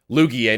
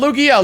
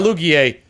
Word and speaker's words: Lugie: Lugie, not Lugia, Lugie. It's spelled L-U-G-I-E.